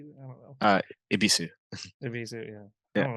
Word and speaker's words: Ebisu: Just Ibisu circuit. Yeah, No, like some people put T's in there too, like Ibitsu. I'm like, well, there's no T, bro. Or Ebis. It's like, no, you pronounce the U.